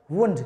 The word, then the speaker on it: wound: देखो इसकी स्पेलिंग ध्यान से बना, वाउंड नहीं बोलना है इसको, क्या बोलना है? वुंड।